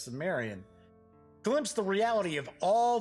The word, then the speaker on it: Cimmerian: Those eyes grew and became gigantic, and in them, the Cimmerian, although I have heard it pronounced Cimmerian, but I'm pretty sure it's Cimmerian, glimpsed the reality of all the abysmal and